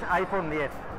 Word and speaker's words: iPhone X: Pronunciado 10, tenemos la duda de si va a ser iPhone 10 o iPhone X, pero parece que es iPhone 10.